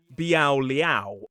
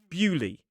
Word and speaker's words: Beaulieu: the New Forest which looks like Bao Liao but the pronunciation of this place is Buli.